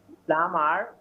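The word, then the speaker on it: plumber: এই যে বি আছে, এই বিটা আমরা পড়তে পারবো না, বিটা পড়া যাবে না। This B is silent, this B will be silent. এই বিটা কি থাকবে? অনুচ্চারিত থাকবে, এটা পড়তে আসবে না, শুধু লেখার সময় আসবে।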